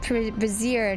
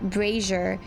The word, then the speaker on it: brazier: I said it's called Brazier, not braier.